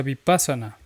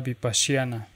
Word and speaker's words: Vipashyana: pasión en primer lugar no se pronuncia vipassana adaptar corrupción ardor de pasión eso es una corrupción de la palabra bip asiana electas de mayfair timberlake